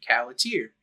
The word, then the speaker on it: Khalatiir: uh the channel you are watching it's named caer that's how you say it uh I've heard different pronunciations of it but it's not a word